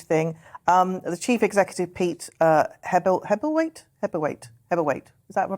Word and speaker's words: Hebblethwaite: The chief executive, Pete Hebblethwaite. Is that if I pronounced it right? Yeah, it is Hebblethwaite.